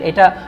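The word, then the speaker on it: へ: আচ্ছা, পঞ্চম লেসনে আমরা বর্ণ হিসাবে এটা প্রথম যেই পার্টিকেলটা নিচ্ছি, এটা বর্ণ হিসাবে হলো হে বর্ণ, কিন্তু এটা যখন পার্টিকেল হিসাবে আসবে তখন এটার উচ্চারণ হয়ে যাবে এ।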